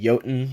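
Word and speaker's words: Jötunn: exotic fusion rifle you'll tune is what they pronounce I'm gonna pronounce it yotan is that's how I think of it because Norse mythology it's a Megaman blaster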